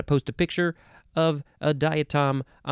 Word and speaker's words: diatom: next word diatom I think it's diatom and not die oh no it might be no it's diatom diatom because it is spelled d-i-a-t-o-m diatom noun from 1845